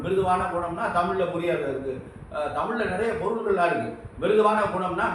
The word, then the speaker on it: தமிழ்: தமிழில் நிறைய பொருள்கள்லாம் இருக்குது. மிருதுவான குணம்னா மென்மையான குணம் என்பது உச்சரிப்பு. இந்த உச்சரிப்பு வந்து தப்பு இல்லாமல் உச்சரிக்கணும். தமிழ் வந்து தப்பு இல்லாமல் தமிழ்னு சொல்லக்கூடாது. எல்லாம் ரொம்ப பேர் தமிழுங்கிறாங்க. தமிழ் என்று சொல்ல வேண்டும்.